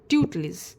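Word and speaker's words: tutelage: आपको याद रखना है इसका जो प्रोनंसिएशन है वो क्या है ट्यूट इज ट्यूट लिज बट आप इसे स्पेलिंग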